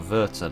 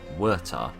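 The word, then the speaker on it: Werther: I'm highly mistaken um the W is pronounced like a V that's why it's the Sorrows of young Versa not the Sorrows of young wurta if I remember correctly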